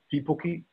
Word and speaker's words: Tipuki: Just a slight correction with the pronunciation of my surname, Alex. Tipuki. Tipuki. Following the pronunciation guidelines of the Māori Dictionary.